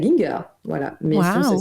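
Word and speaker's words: Gienger: certains auteurs, dont justement, je vous le dis à l'allemande, donc Michael Ginger, voilà.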